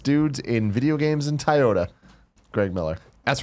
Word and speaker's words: Toyota: of the coolest dudes in video games in Toyota, Greg Miller. That's right, ladies and gentlemen. If you need a new or used car, Toyota?